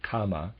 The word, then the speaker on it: Kama: Readers aside, and I am pronouncing that correctly, or at least not the word karma, it's the word Kama, K-A-M-A, just for clarification there, and of readers aside.